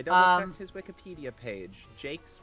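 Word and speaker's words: Jacques: Jakes uh I double checked his Wikipedia page Jakes pronounced Jake got it like several of my cousin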